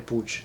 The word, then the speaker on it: Puig: In Argentina we say Manuel Puig, even though most of us know that that is not the correct pronunciation of the last name, because it's a Catalan last name.